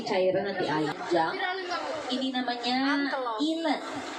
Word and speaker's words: eland: Ini namanya eland. Ejaannya ELAND, dibaca eland.